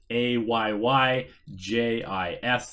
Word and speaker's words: Aegis: Ayyjis is what the tooltip says, so it's like A Lamau or Aegis, and that's how you pronounce it.